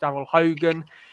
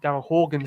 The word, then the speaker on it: Daryl Horgan: all around the pitch daryl hogan who daryl horgan sorry mispronounced his name he's a fantastic player